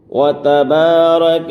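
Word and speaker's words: وتبارك: پڑھیں، سبحانک اللہم وبحمدک وتبارک اسمک، وتبارک اسمک۔ یہاں بعض حضرات وتبارک اسمک اس طرح سے کھینچ کر پڑھتے ہیں، تو یہاں کھینچنا نہیں ہے، وتبارک اسمک وتعالی جدک،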